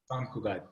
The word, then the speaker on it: Sant Cugat: Sant Cugat, how do you pronounce it? Sant Cugat.